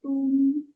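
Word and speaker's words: 东: Timur itu tung, ya. D-O-N-G. Ingat, D bacanya T ya. D-O-N-G bacanya tung, nada 1.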